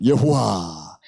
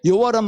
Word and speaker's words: 여호와: 그래서 어떻게 했는가 하면은 아도나이에 아오아가 있죠. 모음. 그거를 붙인 거예요. Y에다가 R을 붙이고 H에다가 O를 붙이고 여호와 이렇게 된 거예요.